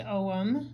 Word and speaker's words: ogham: input so these again are the om it's pronounced om but it's spelled ogum o-g-h-a-m and i just